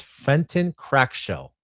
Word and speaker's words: Fenton Crackshell: Gizmo is Fenton Crackshell. Fren Crackshell. Fenton crack shell. Fenton. Wait, how do you pronounce this?